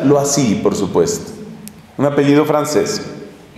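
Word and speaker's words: Loisy: apellido L-O-I latina S-Y, se pronuncia lo así, por supuesto, un apellido francés, L-O-I-S-Y.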